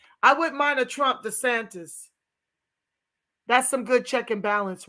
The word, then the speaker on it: DeSantis: communities and killing us his name is DeSantis not this anglicized pronounced pronunciation watch out for these